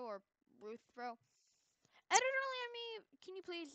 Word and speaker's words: Rthro: And then there's also the Rthro avatars, which Alright, thanks.